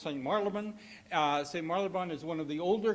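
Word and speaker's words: St Marylebone: uh visited visited the uh Rotary Club of St Maran that's how it's pronounced St Maran uh St marabon is one of the older clubs in London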